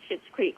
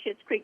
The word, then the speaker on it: Schitt's Creek: Well, I got hooked on Schitt's Creek right away, early on, and I'm so thrilled.